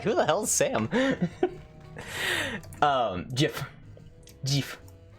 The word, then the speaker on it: GIF: GIF. The only proper pronunciation where you may say Jif is for Jif peanut butter or Jiffy Lube, but that is it. Anything else to say Jif, I you will are follow Sam into battle.